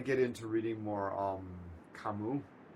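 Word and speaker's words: Camus: Um, Kamu, Al Albert Camas, Albert Kamu. Albert Camas for the people who want to know how to spell it so they can find it rather than just being pretentious and beam.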